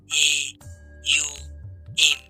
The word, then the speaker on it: ওম: ওম আসলে ওম না, এ ইউ এম।